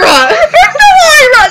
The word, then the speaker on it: Myra: So Myra! Mira! Myra! That's how you say it!